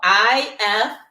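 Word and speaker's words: IFTTT: way of saying it it has to rhyme with gift so it's if so you whatever okay it's if with three T's okay and it if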